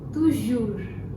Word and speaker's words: toujours: toujours. Now here, S at the end is silent.